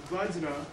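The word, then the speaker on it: वज्र: Vajra means, by the way, the way it's spelled there, Vajra, is the correct spelling, okay? I mean the correct sound of it. Tibetan lamas have been accused of mispronouncing Sanskrit, and in some cases they apparently do. But the use of za is correct.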